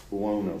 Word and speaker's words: Buono: Buono.